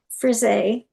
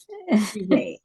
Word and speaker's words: Frise: I wasn't about to pronounce it the way it looks on there. Yeah, it's Frise. Frise.